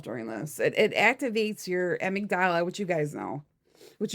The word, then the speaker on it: amygdala: So when you see headlines about violence, war, crime, disasters, your amygdala, is that how you say it?